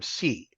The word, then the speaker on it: see: you have the term C um and so you might hear the term uh a c uh and it's pronounced like just as I see something but it actually comes